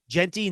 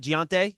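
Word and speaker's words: Gentry: TV Cobin him so it is Genty not gonte it's Genty you're asking me to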